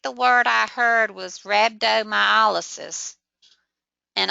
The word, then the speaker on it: rhabdomyolysis: word I heard was rhabdomyolysis and of course the H is silent so you wouldn't think